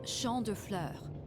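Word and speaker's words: Champs de Fleurs: Champs de floors? How do you say that? It's Champ de Fleurs.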